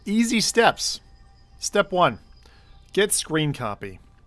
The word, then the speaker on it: scrcpy: Steps step one get screen copy screen copy is abbrevi like this s crr cpy un pronounced screen copy once you get here